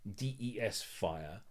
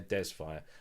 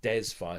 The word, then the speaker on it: DESFire: So instead of my fair, it was mare dees fire. No, I wanted my fair desfire. So I'd have to type in my uh fair f a i r. Yeah. And then dezz fire. So de e zyphen fire and that's a